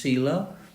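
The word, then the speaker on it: sīla: It includes moral conduct, virtue, morality, pronounced sila, concentration, samadhi, and panya.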